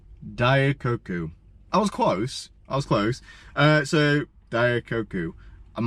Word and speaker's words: Daikoku: How to pronounce Daikoku? Is it? Daikoku. What? Daikoku. Daikoku. I was close. So Daikoku.